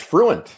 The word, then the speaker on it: Fruendt: It's Fruendt, just like fluent.